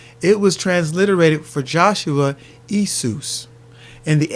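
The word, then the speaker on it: Ἰησοῦς: When you look in the Old Testament Greek, the Septuagint, you will discover that Yeshua or Joshua is transliterated into Isus.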